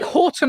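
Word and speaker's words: Haughton: Oh, I'm H A U G H T O N, which also means whenever I tell people my name, I have to tell them how to spell it before they start writing. Oh, it's it's like H Hallandale. It is. Oh, like Horton Hall.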